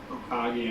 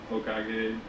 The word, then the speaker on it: Hokage: Hokage, am I saying that right? Hokage? Yep. Hokage.